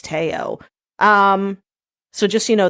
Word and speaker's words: Teo: was like No And she said actually for his name it's Teo um so just you